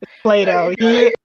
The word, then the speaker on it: Plato: i made it because i used to pronounce his name like pluto or something but him yeah play-doh yeah plato after the planet not the dog yeah yeah or yeah